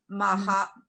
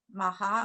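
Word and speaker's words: מה: maha, maha, or that should be a Okay, silent. now what happens, hey, at the end of a word is silent. So that would just be ma then.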